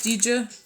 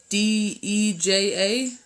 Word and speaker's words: Deja: are you here miss DJ D eja okay oh Deja oh I'm so sorry like deja vu I'm so sorry my